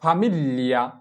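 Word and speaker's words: famiglia: তাহলে আমাদের জি কে এল এ মনে করে উচ্চারণ করতে হবে এবং এল এর ল উচ্চারণটা সম্পূর্ণ হবে না, হালকাভাবে উচ্চারণ করতে হবে। যেমন ফামিলিয়া, ফামিলিয়া, প্রথম ল এর উচ্চারণটা হালকা করতে হবে ফামিলিয়া।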